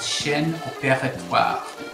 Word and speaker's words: Chaîne opératoire: C is for a very fancy French term called Shen Opera.